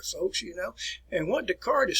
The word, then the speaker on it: Descartes: the name of renee descartes now this is what you the way you want to pronounce it there descartes descartes all right and he'll contribute